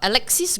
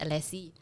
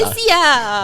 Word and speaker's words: Alexis: Some people just pronounce it Alexis. Them Chinese. Or your Chinese. Alexia. Or your Chinese aunties in Chinese New Year. Alexia.